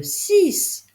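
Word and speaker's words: six: C'est le 6 qui se prononce S en lettre finale et pourtant il s'écrit avec un X.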